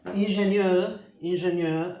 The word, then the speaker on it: Ingenieur: Ingenieur, acá usan el fonema E francés. Bueno, que en alemán también está, pero en alemán generalmente se escribe así y muchas menos veces así. Pero la O con umlaut es el típico fonema E en alemán, pero acá como es palabra tomada del francés es ingenieur, es, bueno, ingeniero.